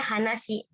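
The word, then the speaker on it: 話: Nah, kalau ini berdiri sendiri. Nah, kalau dia berdiri sendiri bacanya hanashi.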